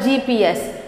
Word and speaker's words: GPS: are augmented reality so abbreviation means we pronounce each letter acronyms means the all